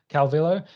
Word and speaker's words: Calvillo: Calvillo.